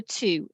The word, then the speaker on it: two: think of the number two it's right it's written t-w-o and you think why is it got a w in it you know we don't pronounce that w why why is it